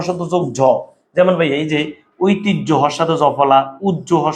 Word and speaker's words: ঐতিহ্য: যোগ জমন ভাই এইযে ঐতিহ্য হর সাথে জফলা উজ্য হর সাথে জফলা সহ্য হর সাথে জফলা হর সাথে যদি জ ফলা থাকে উচ্চারণ সেটি হবে এই হজফলার পরিবর্ত হবে বর্গে হসন্ত যোগ জ লিখতে তুমি এভাবে লেখ বলতে